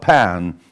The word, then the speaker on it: pan: 일단은 앞에 페 한 다음에 좀 강하게 뒤에를 터트려줘야 됩니다. 펜, 펜 이렇게 이제 좀 뒤에가 아에 가깝게 세게 터트려주는 게 포인트예요.